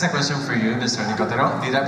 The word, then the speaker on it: Nicotero: Nicotero. Did I pronounce it properly? Nicotero.